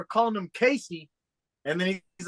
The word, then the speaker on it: Casey: growing up, like, man, people cannot pronounce that shit to say my, like, I've heard like Cassie, I've heard Yeah. like Kason. There's no fucking N in my name.